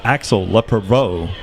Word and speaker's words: Axel Lepreveau: Well, I got the correct pronunciation from Brian Bussell here on the public. It's Axel Lepreveau is back there to punt this one away.